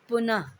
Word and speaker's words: पुनः: इनका उच्चारण ह की तरह, आधे ह की तरह होता है, लेकिन ह लिखा नहीं जाता है। नीचे दिए गए शब्दों के उच्चारण में अंतर का अभ्यास करें। पुनः, ग्रह, पुनः, ग्रह, अतः,